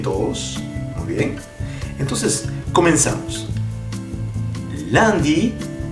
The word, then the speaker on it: Lundi: Lundi. Miren cómo estoy pronunciando. Lundi. Si revisan el curso de pronunciación, S-U-N siempre se va a sonar como el sonido A. El A de A, ¿qué dices? A. Lundi.